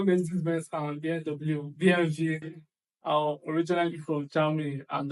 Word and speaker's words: BMW: In English, people say BMW. In German, we say BMW because W is pronounced W in German, and it stands for Bayerische Motorenwerke, which means Bavarian Engine Works.